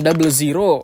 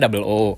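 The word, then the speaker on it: Gundam 00: Lebih lama lagi mungkin Gundam Double Zero. Yoi. Nggak ya, itu dibacanya Double O.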